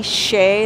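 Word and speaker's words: Hsieh: heard of that guy tony shea that's how it's pronounced well he just died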